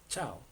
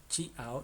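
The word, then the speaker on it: ciao: Entonces no es por ejemplo chia ao, no chiao no es sino se dice chao. Es como si la i no existiera.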